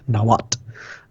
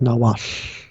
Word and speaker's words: Nahuatl: So you see a lot of people teaching Nahuatl as Nahuatl, but the more classical pronunciation would be something more like Nahuatl, with that kind of, which I'm overemphasizing here, but Atlashinoli as kind